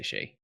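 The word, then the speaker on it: Shai: It's not Shy. No. I do say Shay. What? When I- Why? When I remember to say Shay. Ah. When I remember what pronunciation I've decided upon.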